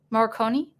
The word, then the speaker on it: Morricone: Is that how you pronounce the name? Morricone.